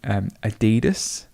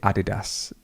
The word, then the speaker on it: Adidas: British English might say Adidas, or you might say Adidas. I think in England we used to say Adidas, or you could say Adidas.